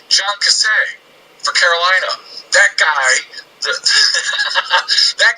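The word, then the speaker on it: Kasay: John Cassay, the Panthers. Yeah, the Panthers just tied the whole I like how thing you gave him the French pronunciation.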